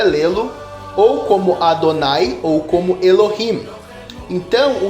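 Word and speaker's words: אדני: as a pronúncia de adonai por extenso. Toda essa ideia dos maçoretas, quando eles vocalizam o tetraagrama e dizem que deve ser lido Adonai, então a outra variação seria Elohim tem apoio no Talmud.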